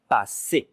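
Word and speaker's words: passer: Look carefully how to write it with double s like in English but with e r at the end. And the e r you have to pronounce it e i.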